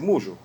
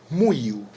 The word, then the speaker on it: muyu: Antiguamente se llamaba Seville mullo, que no corresponde decir mullo, es muyu, la pronunciación que corresponde.